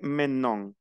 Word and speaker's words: maintenant: Le E ne se prononce pas maintenant.